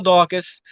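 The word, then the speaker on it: Daukaus: and forth yeah so you pronounce both of them wrong okay it's Kyle daucus 7 and oh really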